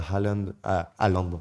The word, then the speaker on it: Haaland: Et à City, même s'il y a Haaland en français, les Argentins prononcent la H à l'anglais, c'est drôle.